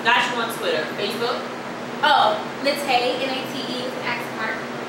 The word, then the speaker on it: Naté: Natay, NATE, @ R.